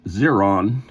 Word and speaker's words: Xeron: are five members of zeron I'm going to pronounce it zeron it's um the name is x e r o n so it is zeron and um Jeffrey bolck